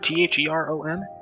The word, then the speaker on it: Theron: Isn't it T-H-E-R-O-N? No, there's no O. It's E. Oh.